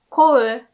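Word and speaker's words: 乞う: Like, kou, you don't have to remember this verb, but kou means to beg, and you have to say kou, kou, not kou.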